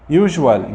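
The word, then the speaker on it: usual: نيجي بقى الناحيه الثانيه، عندك المقاطع دي بيجي قبلها حرف متحرك فهتتنطق جا. عندي هنا الاس يوجوال جاء قبلها اليو حرف متحرك يوجوال فيجوالي مرئي. اوكيجن هنا الاس جاء قبلها الاي متحرك.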